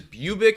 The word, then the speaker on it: Bubic: there and then Kikuchi versus bubic I believe is how you pronounce his name uh I mean they're